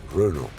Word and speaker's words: Renault: Renault pronunciation alabilir miyiz Renault yani E tabii Fransızcada ö okunduğu için Renault İlker spor ve etkinlik